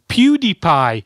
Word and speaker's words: PewDiePie: to draw today today you have to draw PewDie PE stupid YouTub betron it's pronounced PewDiePie not pewd anyway let's start drawing drawing Montage